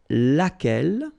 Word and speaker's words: laquelle: singular we saw its laquelle okay so basically same rule Q is not pronounced here and then you get